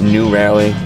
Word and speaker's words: Nu Rally: over there to meet new rally driving up to monterey car week not new rally like n-e-w and you that is how it's spelled pretty tired but this